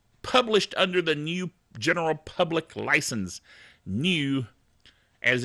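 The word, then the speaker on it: GNU: handbrake it's awesome and it's published under the new general public license New as in GN but pronounced new that's confusing but that's okay it's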